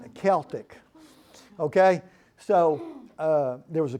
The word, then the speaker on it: Celtic: There was a Celtic band, and it's pronounced Celtic, by the way. It's not Celtic. I know the people in Boston are a little bit confused about that, but it's Celtic.